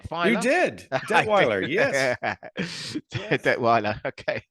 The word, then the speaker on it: Detweiler: thrilled to have you here Craig did I pronounce that right de fin you did deweer yes Detweiler okay it's obscure that I think the only